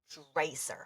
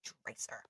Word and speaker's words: Dreiser: Okay, Dreiser. Oh, I was saying it wrong. It's Dreiser. Okay, so what is this book about?